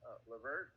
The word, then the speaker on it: LeVert: But for the Nets, their leading scorer was Karis LeVert. Is that how you pronounce it?